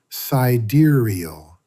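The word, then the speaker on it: Sideræl: Cedaro, pronounced cidurial.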